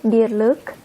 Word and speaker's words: dierlijk: Ini kadang kita bacanya like atau leuk. Untuk ini kita bacanya leuk, dierlijk.